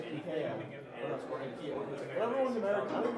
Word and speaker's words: IKEA: Yeah, I want to see bad enough not saying IKEA.